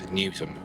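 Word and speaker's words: Newsham: that the do matri can't pronounce it properly but it's newsum not new not newsum newsum you've been warned em 640 something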